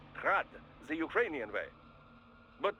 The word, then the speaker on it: Grad: Technically, the Eugi's name is pronounced Grad the Ukrainian way, but most in the business pronounce it as Grad Russian style.